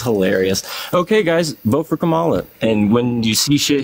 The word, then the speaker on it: Kamala: not saying it right, by the way. It's Kamala.